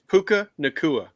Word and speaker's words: Puka Nacua: It's Puka Nacua. How do I pronounce it?